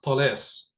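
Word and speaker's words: Talas: of that battle in Arabic for me it's Tes perfect thank you and if you want to look it up it's spelled t a l a s or in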